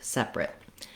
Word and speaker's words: separate: someone or something uh we have first syllable stress which means my sep